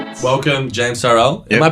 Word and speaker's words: Tyrrell: Welcome, James Tyrrell. Yep. Am I pronouncing it correctly? Tyrrell, but it doesn't. Tyrrell?